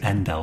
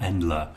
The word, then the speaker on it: endl: this course course that I probably should say and L not endler and notice how I